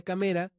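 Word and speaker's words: 亀: Porque cámara en japonés se pronuncia kamera y tortuga es kame.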